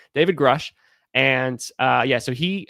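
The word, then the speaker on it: Grusch: Grush, that's how you pronounce his name. David Grush.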